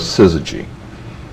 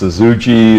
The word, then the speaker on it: Syzygy: and the fact that nobody could pronounce it or spell it didn't seem to bother us and uh people called us suzuji and suzuji and and